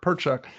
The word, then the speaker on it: Perchuck: Yeah, like woodchuck, Perchuck.